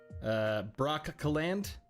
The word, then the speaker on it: Brosselande: Alexandrian Codex saying it's pronounced Brockcaland.